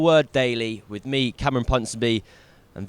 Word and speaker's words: Ponsonby: It's the final word daily with me Cameron punon b and V yeah man that's how actually that's how you pronounce it it's like London so if you